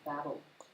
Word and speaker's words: Babel: Sorry again for Babel. I actually pronounce it as Babel. Yeah, Feels more right. feels like, but it depends.